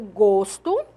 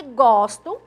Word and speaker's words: gosto: que aqui eu tenho duas palavras que são escritas da mesma forma mas que T pronúncias diferentes em língua portuguesa o gosto som fechado e gosto som aberto substantivo e aqui é